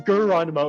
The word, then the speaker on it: Geronimo: And his next version is Geronimo. It's spelled just like Geronimo, except you pronounce the G with a G. With a hard G.